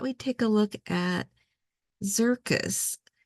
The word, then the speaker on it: Xircus: take a look at zircus uh it's spelled like circus but with an X um and it's so